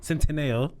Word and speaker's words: Centineo: Centineo.